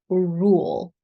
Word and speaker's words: rule: dark l right so rule first of all we have to pronounce the R so round the lips then pull the tongue back and then think about the sides of your tongue because the sides need to touch the insides of the upper teeth I